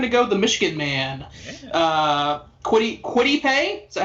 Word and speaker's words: Kwity Paye: Kwity Paye? Is that how you're supposed to pronounce it? Yep. All right. Yeah, we're going to go Kwity Paye and give them a little bit of a